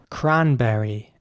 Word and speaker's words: cranberry: Cranberry is next. Cranberry is spelled C-R-A-N-B-E-R-R-Y. And again, you have to pronounce the C like a K. So it's cranberry, not cranberry. Cranberry.